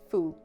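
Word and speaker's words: 蝠: The term Chinese use to say lucky is the same that is used to describe a bat. It is pronounced as fu.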